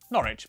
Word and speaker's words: Norwich: stir leicester worcester gloucester w at the start of the final syllable is silent norwich beric southwark er is